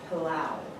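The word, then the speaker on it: pelau: make this particular dish, and they call it pilau, which is spelled P-E-L-A-U.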